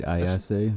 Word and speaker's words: Ayase: All right, Ayase.